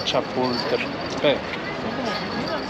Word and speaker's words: Chapultepec: The Bosque de Chapultepec.